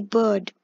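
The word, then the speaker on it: Byrd: Her name's Maggie Bird. B-Y-R-D is pronounced as bird, apparently. I remember because in the beginning of the game I was playing it as like beard the beard for some reason.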